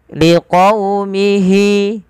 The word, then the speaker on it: لِقَوْمِهِ: Pada fal qaumihi lembutkan dalam pelafalan wawunya. Liqaumi, sembari kita memonyongkan bibir kita. Liqaumi, liqaumihi.